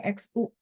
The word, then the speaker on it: 需: Itu pakai X bukan pakai S ya.